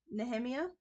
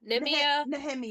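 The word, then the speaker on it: Nehemia: K name NE neia nemia from that's how I say it nemia nemia okay neia I the for me the H is silent but either way um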